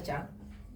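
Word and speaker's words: shunt: Uno es el efecto Chun o Chan, se escribe Chun, se pronuncia Chan, y otro es el efecto espacio muerto.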